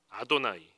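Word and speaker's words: אדני: 요 여호와 라고 발음하지 않아요 아 돈 아니라고 발음을 합니다 뭐라고 한다구요 아도나이 여호와 라고 쓰고 아도나이 일하고 있는 거예요 아무튼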